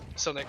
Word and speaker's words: Silnick: still, I said Silic in my head for some reason, like for the longest time. Silnick is probably the correct pronunciation of it.